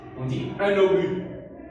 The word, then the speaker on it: obus: On dit un obus. Le S ne se prononce pas.